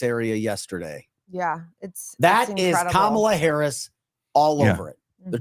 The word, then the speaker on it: Kamala: Kamala is the proper pronunciation.